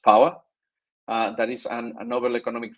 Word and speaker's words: POA: That is POA, that is pronounced POWA.